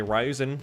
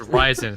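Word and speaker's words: Ryzen: it's going to have a rise and three thousand also series as well no it's rising oh it's rising the correct way to pronounce it and also a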